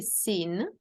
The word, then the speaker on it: sing: До речі у слові Сін та сама історія дивіться звуки с і н г і кінцевий г не читається читаємо просто сильно наступне